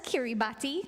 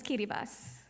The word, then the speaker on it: Kiribati: You might see it spelled as Kiribati, but the proper pronunciation is Kiribati.